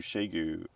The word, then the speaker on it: Xiegu: France as well so people call it different things but I call it Shu and that's probably what